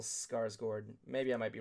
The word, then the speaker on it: Skarsgård: It's pronounced Bill Skarsgård.